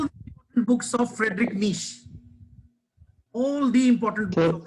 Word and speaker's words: Nietzsche: Friedrich Nietzsche. Pronounce it Nietzsche.